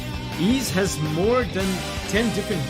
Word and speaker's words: Ys: Genesis beyond the beginning he's pronoun is pronounced is oh okay ease cool ease Sinai says it's pronounced is okay oh